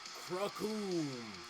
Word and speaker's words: Cracoon: Ladies and gentlemen, and anyone still watching from home, the name's Cracoon. It rhymes with doom and you're going to be hurting all too soon.